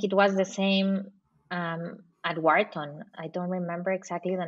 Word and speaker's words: Wharton: You pronounce? I studied at Wharton.